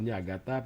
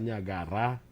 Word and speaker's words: Niagara: Pag pronounce sa Ilonggo, Niagata. Pero sa Karayaan, Niagara.